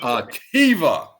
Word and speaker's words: AKiVA: AKiVA. AKiVA. That's AKI with a VA.